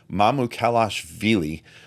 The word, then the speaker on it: Mamukelashvili: how to say his last name, but Sandro Mamukelashvili went for 34 points in 19 minutes.